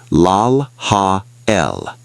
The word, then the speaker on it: Lelahel: Pronounce the name lal hael.